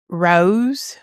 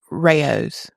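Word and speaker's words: Rao's: settled something for us uh oh controversial settled Rose we've been saying R you know the sauce the really good sauce at the store Rose how you say it no it's Rayos oh wow tomato tomato R rayu how do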